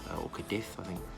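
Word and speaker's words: Cádiz: today we land in Cadiz orchid effing is how you pronounce it in Spain so we're gonna be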